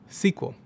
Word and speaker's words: SQL: and structured query language, or SQL, which is often pronounced SQL.